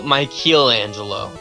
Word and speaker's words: Michelangelo: Like, it's pronounced Michelangelo, but there isn't an A in there.